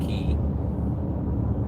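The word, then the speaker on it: Cay: it looks like K but if it's actually pronounced key the the island was actually split in half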